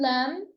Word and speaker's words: lamb: The letter B is silent in lamb, climb, and Tom.